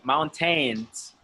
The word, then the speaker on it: mountain: Sometimes you guys say mountains, mountains, because it looks like mountains, but it's not mountains. It's mountain. mountain. Mountains. Yes, mountains. It's Mountains. Mountains. It's like the A and the I are silent.